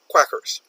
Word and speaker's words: quackers: Pronunciation is similar here. They rhyme.